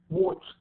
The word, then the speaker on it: watched: Watched. Okay, so we pronounce it like T, watched.